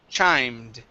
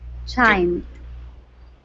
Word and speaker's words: chimed: had said chimed okay this is an ed ending the E is silent the D will be pronounced like a d so it's chimed Chim chimed okay all right all